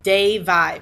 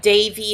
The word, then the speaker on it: Devi: I apologize for pronouncing de vie bra I've been pronouncing a de vie all along but it's actually de vie de VI is Davi like Davy Crockett or Davy Jones but Davy is correct so I apologize and